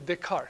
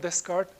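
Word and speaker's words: Descartes: the soul okay the soul yeah we we pronounce the name usually the card not Des card alth there are both pronunciations okay I'm telling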